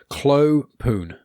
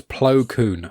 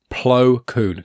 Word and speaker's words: Plo Koon: It's Clo. Oh my god! Now I can't say his name. Clo Poon. Poon. That's it. Like the goalkeeper. No, it's Plo Koon. I just said it wrong myself. PLO space KOON. Plo Koon.